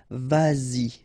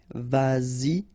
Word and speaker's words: vas-y: So you get to make this liaison. Same thing here, vas-y, vas-y, all right?